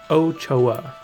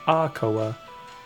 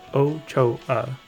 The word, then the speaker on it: Ochoa: Ochoa. A lot of like telemarketers would get that wrong and be like Akoa, but pretty much, yeah. All right, cool. But yeah, Ochoa is how you would pronounce that.